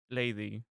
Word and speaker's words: Leidi: Yeah, so I have it written as instead of Lady, I have it written as Leidi, which if you are a Spanish speaker, you're going to pronounce that as lady.